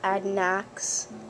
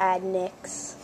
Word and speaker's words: Adnayx: yonder it's adnice and i pronounce the a like an i add next so it's not adnax to add nyx so i was kind